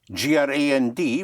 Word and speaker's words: grand: G-R-A-N-D would be pronounced Grand.